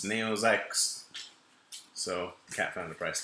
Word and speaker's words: Neo XYX: This game, Neo XYX, it's Neo Zykusu.